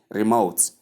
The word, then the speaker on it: remote: note it it's incorrect you simply say Remote as is shown in the transcription here. Remote re and re and what mode. Thank you very much. The stress comes on the second syllable.